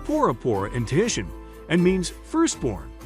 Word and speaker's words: Bora Bora: the south pacific in french polynesia boroborite is pronounced porapora in tuition and means firstborn arama lagoon scuba